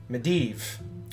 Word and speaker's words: Medivh: medev 11 who says emphasis on the second syllable med medev got it medivh media got it sorry